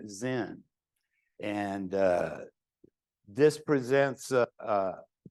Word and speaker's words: Zen: character is pronounced Chan in Japan this character is pronounced Zen and uh this presents